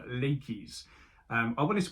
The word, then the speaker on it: Laches: classical civilizations, sort of there was no real silent letters, so everything was pronounced in a word, so Laches makes sense.